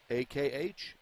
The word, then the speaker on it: Akhmedova: And she spells her first name A-I-D-A, last name A-K-H-M-E-D-O-V-A. First name pronounced Ida, last name pronounced Akhmedova.